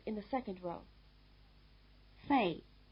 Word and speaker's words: Fei: Fei, Wei, Gui. Listen again, they rhyme.